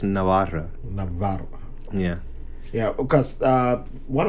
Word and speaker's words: Navarra: So yeah, in English you say Navarre, but Navarre. in Spanish it's Navarra.